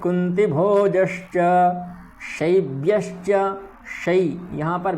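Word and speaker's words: कुन्तिभोजश्च: पुरोजित कुंतीभोजश्च, कुंतीभोज, ठीक। यहाँ पर भी ई ऐसी नहीं है, छोटी ई है इसलिए छोटी का प्रयोग करेंगे।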